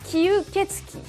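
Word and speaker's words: 吸血鬼: Mais il existe un mot plus traditionnel, écrit en kanji comme cela, qui se prononce kyuketsuki.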